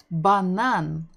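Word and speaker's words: банан: BBB banan banan. We're stressing the final syllable.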